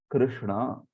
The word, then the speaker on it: कृष्ण: होता है णा और क जो होता है ना वो क्र भी नहीं है और क्री भी नहीं है वो क्र होता है क्र कृष्णा कृष्णा कृष्णा ऐसे बोलते हैं उसको तो अगर हम